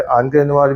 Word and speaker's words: Encre Noire: ऑनके नोवार भी कहते हैं कुछ लोग, ऑनके नोवार भी कह सकते हैं आप। मुझे ऑनके नोवार ज़्यादा सही लगती है इसकी pronunciation, so I will stick with ऑनके नोवार।